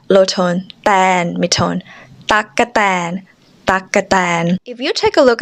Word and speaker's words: ตั๊กแตน: The word takkatan here means grasshopper. Tak high tone, ka low tone, tan mid tone. Takkatan.